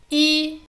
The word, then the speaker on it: 一: It's pronounced as a first tone when it's by itself, for example in a telephone number or when counting. 一 But whenever it combines with another syllable, it follows the exact same rules as bu. Fourth tone, except when it comes in front of another fourth tone, in which case it switches to second tone.